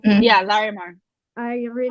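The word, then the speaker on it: Llarimar: like uh larry mark is that how you pronounce it yeah laramar i really like him too and i ended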